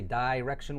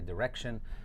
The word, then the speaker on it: direction: so some people say direction with an I sound in the middle and some people say direction it really doesn't matter which one you say both of them